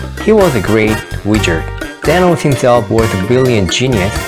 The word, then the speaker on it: Thanos: 라고 했는데요, 한국말로는 타노스라고 하지만 영어로 발음할 때는 Thanos 라고 합니다.